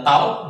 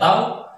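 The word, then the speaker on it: τ: Nah, secara matematis torsi disimbolkan dengan huruf Yunani, yaitu adalah, nah ini dibaca dengan tau, bacanya tau, sama dengan hasil kali antara gaya dengan gaya yang tadi.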